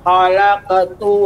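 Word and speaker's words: خلقت: Zarni wa man khalaqtu wahida. Ya, qafnya lebih tebal lagi, Ibu. Qalqalahnya lebih tebal karena qaf ini merupakan huruf yang isti'la. Khalaqtu, nah, gitu dia.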